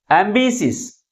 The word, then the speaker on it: ambitious: But which syllable is pronounced with a greater force? Second syllable is pronounced with a greater force comparing with other syllables. And also this word ends with IOUS.